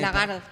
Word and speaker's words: Lagarde: ¿Cómo que se pronuncia esto? Bueno, en Lagarde.